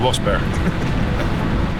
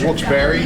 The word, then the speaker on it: Wilkes-Barre: From Wilkes-Barre, it's Wilkes-Barre for the people in this area, or you pronounce it Wilkes-Barre. It's by two names, John Wilkes and someone Barry. And they put it together, it became Wilkes-Barre.